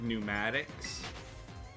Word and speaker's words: pneumatics: having a P like pneumatics. So like like air pistons and stuff. Pneumatics that has a silent P in front of it.